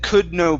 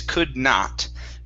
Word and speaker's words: could not: right up here so here you had said could know possibly instead of could know it's could not could not possibly get any worse could